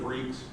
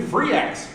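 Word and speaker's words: Freex: And so people would come up to us and say, "Where's the new Free X?" I'm like, really? Seriously? You can't pronounce Freaks with an X?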